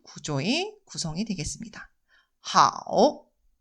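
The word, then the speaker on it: 好: 중국어 발음으로는 하오, 하오, 네, 이렇게 있습니다.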